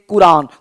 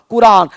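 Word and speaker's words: Quran: लेकिन ये जो क्यू वाला क है ये क में और थोड़ा सा ख थोड़ा सा मिला हुआ है क अब बोलते हैं कुरान तो कुरान हिंदी में तुम जैसे लिखो लेकिन अंग्रेजी में होगा क्यू यू ए आर ए एन कुरान कुरान इस तरह से आपको बोलना पड़ेगा तब कांसेप्ट क्लियर होगा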